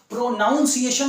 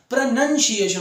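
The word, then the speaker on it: pronunciation: चाहिए ठीक है ना प्रोनॉन्सिएशन नहीं होता प्रनंसीएशन होता है प्रनंसीएशन ठीक है ना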